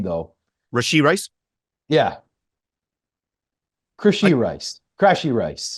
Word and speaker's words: Rashee Rice: going to Kansas City, of course, that You mispronounced his name though. Rashee Rice.